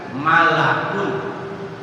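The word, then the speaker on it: مَلَك: Awas jangan salah bacanya. Kalau mulkun, kalau malakun malaikat, kalau mulkun kerajaan. Kalau Malikun raja kalau milk memiliki. Jadi dalam bahasa Arab itu beda harakat, beda makna.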